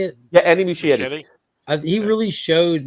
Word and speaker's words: Muschietti: Yeah, Andy Muschietti.